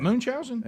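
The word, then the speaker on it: Munchausen: spelling okay m-u-n-c-h-a-u-s-e what Moon chowsing yes y'all don't know about moonshots how to spell it yeah yeah because some people think we're saying moon like the moon it's named after the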